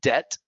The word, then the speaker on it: debt: may not realize that debt right you don't pronounce the b doubt you don't pronounce